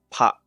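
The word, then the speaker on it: ぱ: Pa. Right? It's pronounced pa.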